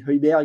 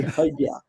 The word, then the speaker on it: Højbjerg: Et même moi, je dis Højbjerg, mais c'est Højbjerg.